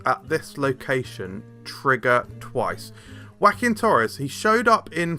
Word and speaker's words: Joaquin: I'm pretty sure it's Joaquin, right? Because like Joaquin Phoenix, isn't it?